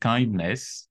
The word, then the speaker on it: KINDNS: pense que j'ai voilà ça se prononce juste kindness d'accord mais il s'écrit k DNS qui est l'abbréviation en